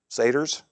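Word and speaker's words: satyrs: We also saw there the hobgoblins sa how do you pronounce that? Sats or satars. Saters.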